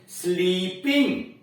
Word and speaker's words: sleep: आपको कहना चाहिए ही इज स्लीपिंग, बड़ी की मात्रा बोलिए, स्लीपिंग, यानी स्लीप में बड़ी की मात्रा है और स्लिप में छोटी की मात्रा है।